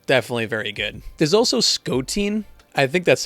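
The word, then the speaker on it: Skotein: very good there's also scottin I think that's how you pronounce it it's s k o t e i n rhymes with protein they do Pokemon covers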